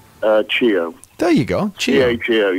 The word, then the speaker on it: Cheo: Cheo.